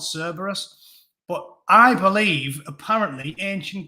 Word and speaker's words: Cerberus: Apparently it's pronounced with a C, not a K. Cerberus, Kerberos, don't care.